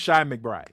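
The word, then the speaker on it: Chi McBride: His name is Is it- pronounced like Shy. Okay, so it's Shy McBride.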